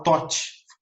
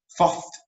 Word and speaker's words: Thoth: Ali em cima está o Tote, Thoth. Tá? O Tote, ele e a pronúncia está errada, mas o Tote, ele é o deus da memória.